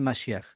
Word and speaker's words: Mashiach: el equivalente del hebreo Mashiach. Mashiach. Mashiach. Uy, mijo. Mashiach. Mashiach. Bueno, ahí le ayuda a ver con la pronunciación en hebreo se dice Mashiach.